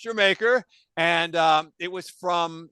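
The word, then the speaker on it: D'yer Mak'er: Zeppelin guys here but the song is gerer which some people might call dire maker but it's actually pronounced jamaer and um it was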